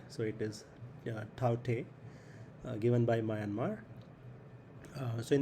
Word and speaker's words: Tauktae: it will be named taute i think that's the right pronunciation because k is silent so it is taute given by myanmar so